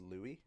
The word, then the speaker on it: Louis: called him lewis or louie but i'm just gonna go with louis because that's usually because this spelling is usually coming from the french pronunciation pronunciation wow yeah and